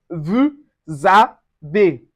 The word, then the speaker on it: vous avez: We also have vous avez. Vous avez. The S also changes to Z and it gives us vous avez.